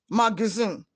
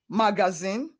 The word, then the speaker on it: magazine: pronounced as a why the second a is pronounced with a sure sound er er magazine not magazine or magazine that word is pronounced magazine magazine